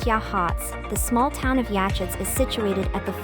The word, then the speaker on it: Yachats: canyon are available as well number eight yatchets pronounced Yachats the small town of yatchets is situated at